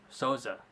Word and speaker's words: Souza: or should he fight Souza sauza salsa there you go that's how you pronounce it Sosa yep I think either